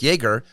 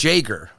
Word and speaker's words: Jaeger: So I've been saying Eric Jaeger. I found out this weekend it's Eric Jaeger.